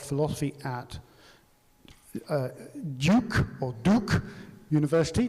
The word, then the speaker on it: Duke: at uh duke or Duke University depending on whether you speak with a British pronunciation as I do or American okay so I'm going to say duuk because I'm British but